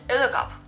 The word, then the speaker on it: edderkop: write it like this, you have to pronounce it edderkop. Or something like this, like edderkop. The double D is usually an L, but they have a